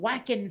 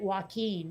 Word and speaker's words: Joaquin: joker and for some reason they could not pronounce joaquin phoenix accurately they kept calling him whacking phoenix and i was like yeah they're whacking